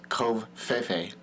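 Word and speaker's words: covfefe: word for the day my vocab word is kve Fe kve Fe K it's spelled c o v f e Fe I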